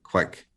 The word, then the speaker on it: kveik: but looking at literature it's pronounced like Quake but with a K in front of it so kind of comes out quick um but I'll do